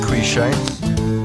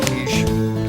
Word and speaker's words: quiche: I only learned what quiche was when I went to work on radio, and I pronounced it quiche. People told me it was quiche.